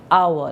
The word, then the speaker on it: hour: gone out for an hour now if you see the word our it begins with an H but the H is silent so therefore the next